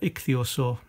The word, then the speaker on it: ichthyosaur: done thesaurus was hard to see that's uh ichthyosaur that's how it's pronounced saw the the obverse if you want